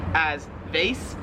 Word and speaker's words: vase: it in american english as vase whereas they're here in australia they pronounce it vase so the way we say it like it rhymes with like face like your face vase face whereas here